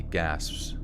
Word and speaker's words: gasps: Well, it's like happening in the moment, so it's like, it's not an ED, it's an S. Like he gasps.